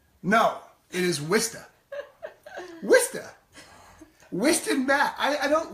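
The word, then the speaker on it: Worcester: you pronounce that what's that how would you pronounce it wor chse dr chesson watch up right no it is wisten wisten wisten bat I don't wake them up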